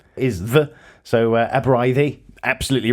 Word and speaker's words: Aberystwyth: So Aberystwyth, absolutely right.